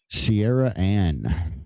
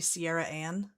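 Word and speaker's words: Ciarriane: Sierra Anne. Is that what it's supposed to be? Yeah. Yeah. Sippy pronouncing that name.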